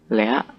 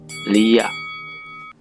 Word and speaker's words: Liak: Nah, sebelum membahas lebih mendalam tentang Lea, kita harus pahami dulu ejaan yang benarnya Lea atau Lia. Nah, yang benar itu adalah Lia.